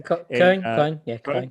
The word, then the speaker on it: Köln: It's hundreds, thousands of people who have different responsibilities within the game, and they have offices in Vancouver, in Köln, Cologne, in Germany. Köln.